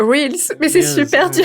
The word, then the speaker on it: reels: Mais les gens le prononcent réel alors que c'est des reels en fait. À la limite faudra le prononcers. Moi, j'ai toujours eu envie de le prononcer Reels perso. Mais moi, j'ai toujours dit réel. Mais il y a pas mal de gens quand même qui disent euh whels.